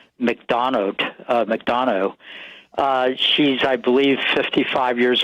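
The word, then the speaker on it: MacDonough: Her name is Elizabeth, and I think the last name is pronounced McDonough.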